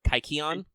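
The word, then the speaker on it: kykeon: Don't eat the kikion. Actually, how do you pronounce that? Kikion? I mean, if it's an actual Greek word, you pronounce all of the syllables usually, so it would be like kaikion.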